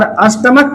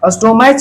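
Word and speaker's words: stomach: और अष्टमक पढ़ते हैं। अष्टमक स्टोमेज नहीं पढ़ते।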